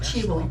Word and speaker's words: Cibo: It's pronounced Chivo.